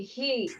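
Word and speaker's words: हि: They they just say he he. That's how they pronounce he basically. It's not hi. It's he.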